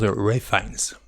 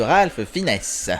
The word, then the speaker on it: Ralph Fiennes: partir sur Ralph Fiennes, sachant que lui aurait tendance à plutôt dire Ray Fiennes. J'ai vu des vidéos où il explique comment on prononce son nom, donc voilà.